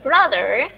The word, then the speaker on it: brother: I have one brother and two sisters. I have one brother and two sisters. Brother, ya, dibacanya bukan bro tapi bra.